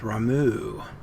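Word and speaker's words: Ramuh: worship the Primal ramu oh it's pronounced ramu I'll probably pronounce a rama though technically a beast tribe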